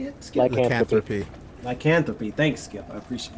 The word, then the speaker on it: lycanthropy: Lycanthropy.